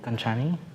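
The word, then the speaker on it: Gancini: So it's you pronounce it perfectly. Ganchani?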